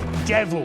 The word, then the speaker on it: De Vil: Horace: It’s spelt Devil but it’s pronounced De Vil.